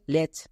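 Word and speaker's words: latch: হলো প্যাচ একই রকমভাবে লেচ কেন কারণ এটাও দুটো রুলস ফলো করলো তাই এটা হলো লেচ আমরা পড়তে গিয়ে টি কে উচ্চারণ করবো না সিএইচ এর আগে টি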